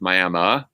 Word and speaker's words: Miami: the name for us it's spelled miami but it's pronounced miama which i assumed was